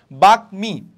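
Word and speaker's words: বাগ্মী: যেমন দেখো বাকমি, ওকে, সো বাকমি, ওকে, এখানে কি ম কি তোমার হারাই যাচ্ছে, না, ম হারাই যাচ্ছে না, তাহলে বাকমি আমার উচ্চারণ হচ্ছে।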